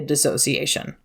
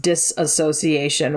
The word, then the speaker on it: dissociation: there should be a dissociation it's sometimes commonly mispronounced disassociation which soapbox it's technically